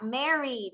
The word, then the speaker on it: married: Number 4 was Mireya, married. Very good. Married. And how would you pronounce that? D, married. Married. Muy bien. Quítame esa E. Married. Muy bien. Solamente la D al final.